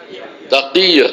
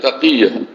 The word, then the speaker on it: তাকিয়া: তাকিয়া, তাকিয়া। কি লেখাপড়া করছেন, এই শব্দটা উচ্চারণ করতে পারেন না, খালি ইংরেজি উচ্চারণ করতে পারেন।